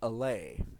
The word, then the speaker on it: Allay: released yesterday on tuesday the alley i think that's how it's pronounced la lai i don't know a double l a y basically this mob